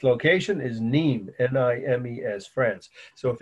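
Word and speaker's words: Nîmes: it in real life nimes neem is pronounced france so you need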